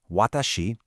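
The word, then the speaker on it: は: the particles wa which is pronounced wah and ga ga.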